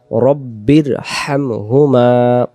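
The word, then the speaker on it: رَبِّ ارْحَمْهُمَا: আমরা বলি রাব্বির হামহুমা, রাব্বির হামহুমা না, উচ্চারণটা হবে রব্বির, রব্বির, রব, রব, রাব না, রব, রব্বির। যদি বলি রাব্বির তখন রাব হয়, রাব না, রব, রব, রব্বির হামহুমা, হামহুমা। এই জায়গায় গলাটা একটু শোষ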